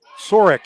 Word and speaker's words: Sorek: supposed to be in but sorek is how you pronounce the name i apologize for messing